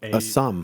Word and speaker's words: Assam: 20 years and as M how do you pronounce that Assam Assam Assam yeah in 20 years so a